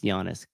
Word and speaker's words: Giannis: spis ganis gianis yeah it's pronounced Giannis uh Patrick Clark knows